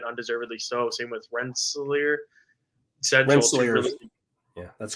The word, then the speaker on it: Rensselaer: Rensselaer. Yeah, that's correct. Correct pronunciation, Brian.